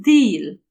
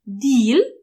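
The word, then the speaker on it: değil: się to deal wymawia taką pełną poprawną wymowę jest bill ale często możecie usłyszeć deal takie bardzo zwężone a zbliża się do i albo wogóle i szczególnie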